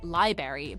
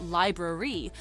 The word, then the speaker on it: library: Many people mistakenly say library, but the correct pronunciation is library. Remember, it's like saying lie and bruh with a re at the end.